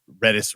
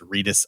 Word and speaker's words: Redis: own if you're really good at dealing with redis reddis I've heard it pronounced both ways that's a full-time job in